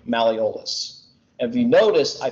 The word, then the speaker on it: malleolus: eventually i'm going to make a mistake on pronouncing malleolus and if you notice i pause right before